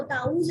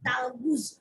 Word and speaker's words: تعوذ: ہے وہ ہے تعوذ۔ یہ لفظ ہے تعوذ، اس کو تعوذ نہیں پڑھنا، ٹھیک ہے، اس کا اصل تلفظ ہے تعوذ۔ تو تعوذ کے الفاظ